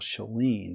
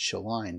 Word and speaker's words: Sheline: how it was pronounced I thought it was anel shalene but I believe it's shaline based on what how Amy Goodman and democracy Now pronounce her name uh she's a hero